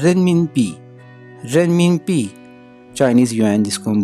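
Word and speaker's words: 人民币: रेनमिनपी, रेनमिनपी, Chinese yuan जिसको हम बोलते हैं।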